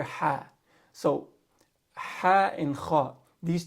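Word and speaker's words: ح: So ha is unique. Ha does not exist in the English language. So many native English speakers, they're going to pronounce ha as ha. They'll say Bismillahir Rahmani, Bismillahir Rahmanir Rahim. All right, so you're going to have difficulty pronouncing that. You're going to naturally go to this sound right here, which is at the bottom of the throat. You're going to say ha, and that's wrong.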